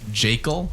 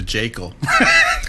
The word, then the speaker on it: Jekyll: Which apparently is pronounced Jekyll, actually, because... Yeah, the Harlan original Ellison- pronunciation was Dr. Jekyll, but if you say Dr. Jekyll, you just sound like a pompous, pretentious dork.